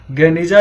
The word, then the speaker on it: गेनिजा: तो फुस्तात में Ben Ezra के यहूदी प्रार्थना भवन के एक सीलबंद कमरे, गेनिजा, जिसका उच्चारण गेनिजा के रूप में किया जाता था, और उसमें मध्यकाल के यहूदी दस्तावेजों का एक विशाल संग्रह मिला है।